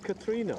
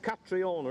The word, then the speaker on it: Catriona: We're joined today by Desmond and Katrina. Okay. It's Katrina, isn't it? It's not Catriona, is it? Well, it's Katrina I get called, but it's spelled Catriona.